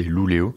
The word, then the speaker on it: Luleå: Ça s'écrit avec un A mais c'est Luleå.